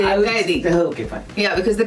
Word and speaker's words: Kaithi: Yes, which is called Kaithi, actually pronounced Kaidi. Yeah, so you don't have to say Kaithi then, you have to say Kaidi.